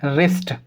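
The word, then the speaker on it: wrist: तो यहाँ पर हो गया आर और आर से पहले W, फिर W साइलेंट, आर से पहले W तो W साइलेंट। तो हम इसको क्या पढ़ेंगे, रिंकल, हम इसको क्या पढ़ेंगे, रिस्ट।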